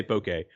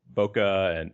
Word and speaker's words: Bokeh: and I don't think I think there's kind of a range that's acceptable I say bouquet but I've heard you know bokeh and bouquet and you